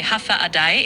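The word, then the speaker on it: Håfa Adai: Hafa Adai, prononcé Hafa Adai, est la salutation traditionnelle chamorro, la langue indigène de Guam.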